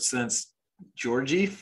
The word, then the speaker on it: Szent-Györgyi: So there's a quote by a Nobel Prize winner in physiology named Albert Szent-Györgyi, I believe is how you'd pronounce it.